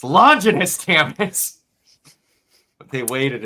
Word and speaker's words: Longinus: It's Longinus, damn it.